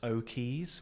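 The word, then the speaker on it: O'Quays: I'm at O'Keys, which is spelt Oquays, like key as in a dock or a wharf, so O'Keys.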